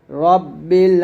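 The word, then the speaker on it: رَبِّ: আলহামদুলিল্লাহি রাব্বিল আলামিন। আমার সাথে আপনারা বলেন আলহামদু। এখানে হার উচ্চারণ যেন ভুল না হয়। আলহামদু লিল্লাহি রব্বিল। রা না বলে র বলবেন রব্বিল আলামিন একসাথে যদি বলি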